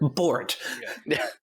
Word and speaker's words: Bort: Yeah, just- Rhymes with short? Bort.